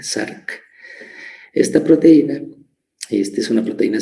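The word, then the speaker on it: Src: Miren, la proteína sinasa SARC se pronuncia como si hubiese una A después de la S, SARC.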